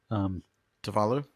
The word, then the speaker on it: Tuvalu: Tuvalu.